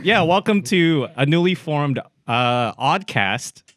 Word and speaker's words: Awdcast: Okay, so it's Awdcast. It's spelled like awkward. So AWD cast and podcast.